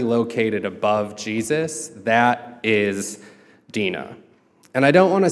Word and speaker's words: Dinah: so this story's about a woman named Dinah or Deena there's multiple ways you can pronounce a lot of these names I'm gonna go with Deena if you take a